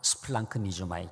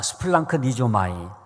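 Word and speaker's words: σπλαγχνίζομαι: 스플랑크 니조마이. 좀 어렵죠? 한번 따라 합시다. 스플랑크 니조마이.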